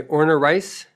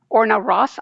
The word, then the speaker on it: Orna Ross: Okay, it's called How Authors Sell Rights by Orna Rice. Orna Ross, Ross. Oh, Orna Ross, yes.